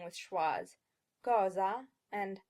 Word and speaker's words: cosa: be pronouncing with schwas, cosa and amor. English speakers will tend to say cosa instead of cosa and amor instead of amor.